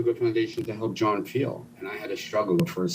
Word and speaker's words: Feal: I said, "Feal."